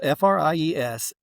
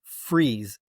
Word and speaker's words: Fries: His name is is spelled f r i e s and his entire life it's pronounced freeze. Like freeze. Like you're going to freeze, okay?